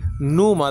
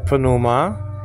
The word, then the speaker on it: pneuma: A spirit, but pneuma, the old Bible teachers used to just say pneuma, then he mentioned the P. I guess that's English influence getting into the Greek pronunciation.